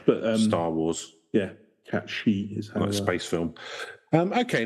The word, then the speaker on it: Cait Sith: so it's like but um Star Wars yeah cat she is space film um okay no well let's